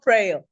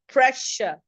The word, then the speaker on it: pressure: He's not prayer. He's not trail. It's pressure. Pressure.